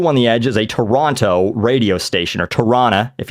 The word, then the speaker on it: Toronto: I'm apparently is not I not supposed to say Toronto everyone gets pissed off when I go oh it's Toronto because that's you know that's how it's spelled and that is how you're supposed to say it but locals don't say it that way so the idea is that if you're from Ontario you say Toronto right in the same